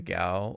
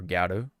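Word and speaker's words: ギャル: So, as you can tell, yes, in Japanese, she's basically a gal or garu, I guess how you want to pronounce it, but yeah, gal.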